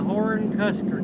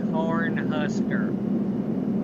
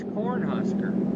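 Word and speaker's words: Cornhusker: I said horn Kuser it's corn huser I said horn Kuser yeah I know you said that you're saying it wrong no or Kuser is the right thing to say no it's Corn Husker what if it was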